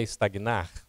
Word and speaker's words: estagna: Sabe o que é estagnar? Parar. Né? Parar. Estagnou, parou. Não é isso? Agora a gente diz estagna. Olha, como é que você escreve estagna? O G é mudo, gente. Então é estagna.